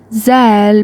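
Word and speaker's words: ذال: First of all, Zal pronounced like the th in them, that, there, and these, etc.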